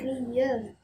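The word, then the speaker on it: 리을: Itu karena sebenarnya memang fungsi dari huruf real ini di awal menjadi R dan di akhir menjadi L.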